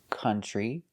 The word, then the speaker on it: country: So we see these two special words, country and southern. They're spelled with OU, but they don't make the OW sound. They make the sound.